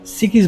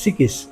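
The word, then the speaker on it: çıkış: exit ওয়েটা আমাদের বামদিকে এক্সিটকে এরা সিকিস বলে উচ্চারণটা হয় সিকিস আমরা বামদিকের যে পথ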